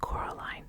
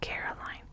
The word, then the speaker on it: Coraline: name wrong you know they kept saying Coraline not Caroline not Caroline at all he picked up a